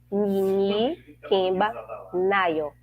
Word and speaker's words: Nini Kemba Nayo: Então, meu nome se pronuncia Nini Kemba Nayo. É um nome Yorubá e Banto, línguas Yorubá e Banto.